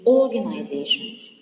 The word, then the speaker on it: organizations: The next word is organizations. Organizations is stressed also in the second before the end. It is the penultimate syllable.